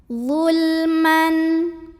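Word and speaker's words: ظُلْمًا: Man ada hukum idhar halqi karena ada tanwin fathah yang bertemu dengan huruf halqi atau huruf tenggorokan yaitu hamzah. Maka cara membacanya tanwinnya ini dibaca dengan jelas, jadi masih bunyi N dan tidak perlu ditahan.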